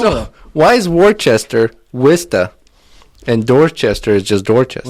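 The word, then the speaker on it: Worcester: but that's not what it's called which is pronounced which what in Massachusetts they say wsta that's right like wi s t e a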